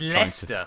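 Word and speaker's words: Leicester: It's Lester my friend. Yes, I know. I know what Lester is.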